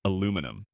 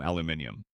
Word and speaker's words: aluminium: And aluminum. You guys add an extra ion aluminium.